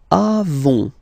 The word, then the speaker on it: avons: Then nous avons, final S not pronounced, avons.